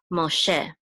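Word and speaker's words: משה: And this shin goes with this go, which says and this hey is silent, so it goes together, she, Moshe, el Moshe, Vayikra el Moshe, which means, and he called to Moses.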